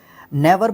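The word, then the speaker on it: gnaw: नेवर बोलते हैं इसको, नेवर, ठीक है। जी जो है यहाँ पे आपका साइलेंट रहेगा।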